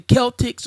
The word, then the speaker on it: Celtic: Festival right or Celtic it's pronounced it's spelled Celtics but if you dive into the word is actually Celtic right Celtic Harvest Festival